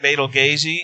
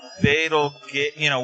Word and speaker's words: Betelgeuse: Yeah, so it's because I think that's actually it's actually pronounced like Betelgeuse, and I think even